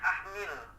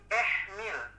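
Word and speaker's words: اهمل: Yang salahnya kita bacanya ahmil waziyin. Padahal yang benar itu ihmil waziyin. Kita dengarnya ahmil, pas kita dengerin lagi nasyidnya itu ternyata munsyidnya itu membaca bukan ahmil, bukan ihmil, tapi ehmil, pakai imalah.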